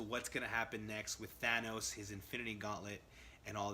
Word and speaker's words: Thanos: the movie she's like Thanos I was like oh okay I've been pronouncing around this whole time so I've switched over it's always thought nose to me but yeah so